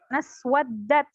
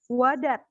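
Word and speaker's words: اسودت: Naswaddat. Tadi dibacanya wadat. Padahal di sana ada tasydid. Naswaddat.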